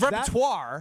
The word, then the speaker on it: repertoire: And also, I don't think that's how that word is pronounced. It's repertoire. That's what caught my ear cuz I did catch the repertoire.